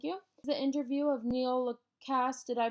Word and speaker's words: LaCasse: The interview of Neil LaCasse, did I pronounce that correctly? LaCasse, yeah, that's LaCasse, fine.